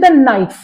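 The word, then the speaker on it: knife: ऐसी लैंग्वेज है जि लिख तो जि नाइफ देख की है के एन आई एफ E right but के इ नॉट प्रोनाउंस राइट इसी तरीके ना बहुत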